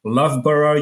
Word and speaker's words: Loughborough: He holds a master in engineering and systems engineering from the Loughborough University, as I was told it's pronounced.